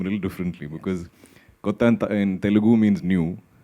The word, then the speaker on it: Kotha: for you guys to tell them it is King of Kotha and not the usual Hindi pronunciation. So it's in the film Kotha, in Malayalam it's Kotha.